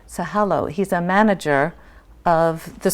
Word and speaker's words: Sahalo: You also have here tonight Daniel, pronounce his last name. Sahalo.